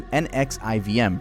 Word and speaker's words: NXIVM: Let me introduce you to NXIVM, pronounced NXIVM, a multi-level marketing company and self-help organization co-founded in 1998 by Rainier and a former psychiatric nurse named Nancy Salzman.